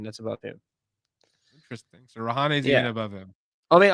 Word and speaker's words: Rahane: Yeah, just Rahane's the only one above him. That's Indian. That's above him. Interesting. So Rahane's even above him.